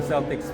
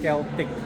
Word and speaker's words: Celtic: So I just learned from the organizers that the proper pronunciation of the event is Celtic, not Celtic. Celtic refers to the sports team, which is in Boston. Celtic is the event.